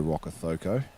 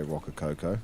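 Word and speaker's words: Rokocoko: Zealand like you know Joe rockoko but if you didn't know how to pronounce that you might say Rocka Coco so yeah I appreciate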